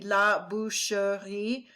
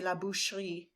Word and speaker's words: la boucherie: If you were to pronounce it exactly, it'd be la boucherie. But in French, they drop that silent E kind of in the middle of the word and they say la boucherie.